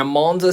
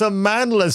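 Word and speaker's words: Amandla: to every moment and Amanda Steinberg is phenomenal but Le he can't even say her name properly am on the Steinberg it's a manless Steinberg even I can get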